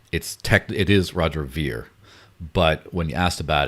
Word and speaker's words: Ver: Anyone ever ask Roger how he pronounces his last name? It's kind of funny because everyone calls him Roger Ver. It is Roger Veer, but when you asked about it, he says, well, it's Roger Veer, but people say Ver for so long that